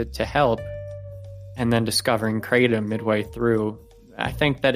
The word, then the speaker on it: Kratom: I've decided that the word is pronounced Kratom. I've been saying Kratom my whole life, but I've heard way too many people say Kratom now, so I've got to join the crowd.